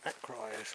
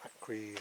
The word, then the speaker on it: Acrise: Right, come up to a place called Acrise, or Acrise, however you want to pronounce it.